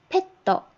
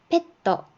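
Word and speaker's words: ペット: 얘는 페떠, 페떠, 애완동물이고요.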